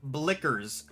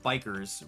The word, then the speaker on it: Blickers: It's Studio Blickers, not bikers.